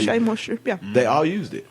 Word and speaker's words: Shea Moisture: One thing that just surprised me is one product that they mentioned was Shay's Moisture. Yeah, say it right. Shea Moisture.